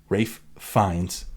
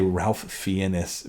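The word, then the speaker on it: Ralph Fiennes: I was gonna say I was gonna say Ralph fianus which is on the podcast once that's so funny we had a friend who mispronounced his name had never heard it out loud and just read it is it Ralph fianis so that's so funny uh Rafe finds um Voldemort himself he's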